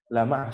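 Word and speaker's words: لمع: Tapi kalau dalam bahasa Arab, lama'a itu artinya bersinar atau mengkilap. Nah, cara membacanya itu adalah menekankan di huruf ma. Lama'a, sehingga lebih terjelas la dan ma'a.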